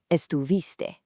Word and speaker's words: estuviste: Look closely at the verb here and make sure you clearly pronounce that iste sound, estuviste.